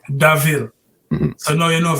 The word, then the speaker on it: Da'Ville: So I said, da, it's supposed to be Daville. You know what I mean? I must come to up and say, you know what, D-A hyphenated VILLE, Daville.